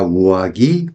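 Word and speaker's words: 上着: 그래서 요사 쏘나 우와 기 하고 니고리 땡땡 붙어서 발음해 줘야 됩니다. 왜 그런 거 하니요? 우와 키 세게 발음을 해주면요. 바람을 피우다라는 뜻이 돼요. 그래서 카레가 우와 키오 시마시다. 그가 바람을 피웠습니다. 라는 뜻이 되니까 조심해줘야 됩니다.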